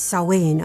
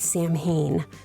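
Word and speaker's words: Samhain: And that I didn't know then but now bothers the be Jesus out of me because it's sain or however there's different pronunciations but it is not Sam Hayne.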